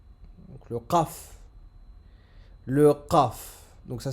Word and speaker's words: ق: Le qaf, sa prononciation, c'est au fond de la gorge.